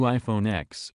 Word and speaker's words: iPhone X: at $999 the new iPhone X pronounced like the number 10 will have a screen